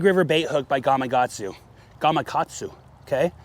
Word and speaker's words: Gamakatsu: size four Big River bait hook by gagu Gamakatsu Okay g don't want to pronounce it wrong gatu okay bigger bait love